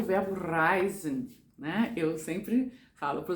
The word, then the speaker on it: reisen: Eu sempre falo para os alunos, é bom você rolar o R, né? Porque esse R aqui embaixo é mais difícil de pronunciar. E quando eu morei em Munique, na universidade, me indicaram utilizar o verbo, o R italiano, para poder ficar mais clara a minha pronúncia, né?